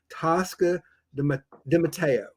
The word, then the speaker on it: Tosca DiMatteo: And I'm so excited to welcome to our show today Tosca Dimatteo.